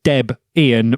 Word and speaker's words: Debian: in but it's a named after Deb and Ian so it is Deb Ian doesn't matter what something